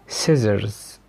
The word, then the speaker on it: scissors: لكن عندنا القاعده العامه ان حرف السي لا ينطق لو جه قبل منه حرف الاس. خلاص، زي كلمه ساينس ساينس علوم scissors seen muscle descent ascend.